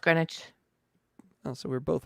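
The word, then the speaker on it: Greenwich: back up on talk yes what is the green witch meantime please uh grenwich it says green witch it's pronounced grenwich oh so we're both right all right I'll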